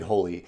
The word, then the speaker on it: Holi: I believe the game is pronounced Holi.